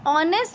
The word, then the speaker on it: honest: Now honest is a word which is, in the spelling it is written H, but H is silent when we pronounce, when we speak, so it gives a sound of O.